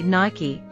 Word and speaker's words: Nike: Did you just say Naik? Yeah, what's wrong? It's actually Nike, just like Spiky or My Key. The brand added an E at the end, making it a two-syllable word.